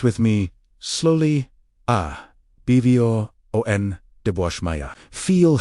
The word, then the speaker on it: Abwoon d'bwashmaya: Pronounce with me, slowly, Abwo D'bwashmaya.